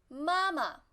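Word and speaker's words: 妈妈: So 爱人爱人爱人 And mom mama mama Remember the second one is light tone Mama not mama It's mama mama And mother like 父亲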